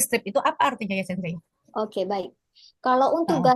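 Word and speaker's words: 先生: Ada lagi Sensei, kalau misal kosakata dari kami itu kan dia kan O-nya itu di double ya Sensei ya, tapi dibacanya nggak panjang Sensei.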